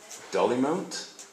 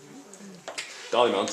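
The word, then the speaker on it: Dollymount: near, you have to tell me with the pronunciation again. Dolly Mount. Dolly Mount in Dublin.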